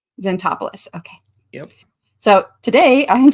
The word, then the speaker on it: Zantopoulos: Zantopoulos. Zantopoulos.